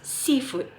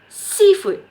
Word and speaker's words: seafood: stress on c right seafood seafood so the stress is on sea not on food so seafood okay all